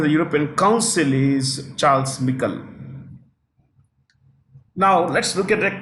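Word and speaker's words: Michel: European Council European Council Charles or some people called Michael it's actually Michael he's a former Prime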